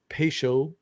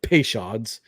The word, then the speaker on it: Peychaud: 4 dashes of Peychaud, or as Liz Americans say, Peychauds.